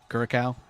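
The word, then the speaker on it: Curaçao: It's pronounced with a K. Curacao.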